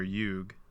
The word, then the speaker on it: yuga: So that's another thing about Sanskrit is they always usually end with an A, but like when you pronounce it, you're supposed to just like cut it. You can say yuga. Like pranayama. You're supposed to say pranayam. You can say both. Okay. Both are accepted.